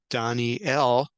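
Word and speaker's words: דָּנִיֵּאל: And so this is interesting here that Daniel, and in Hebrew, it would be pronounced Daniel, um, with the emphasis on the EL, and the L at the end is the somewhat abbreviated name for God.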